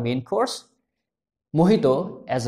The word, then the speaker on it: mojito: Again, ये Spanish से लिया हुआ वर्ड है और प्रोनाउंस्ड एज मोहितो ना कि मोजितो।